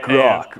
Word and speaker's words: Grok: Call it Grok. Rhymes with Grug.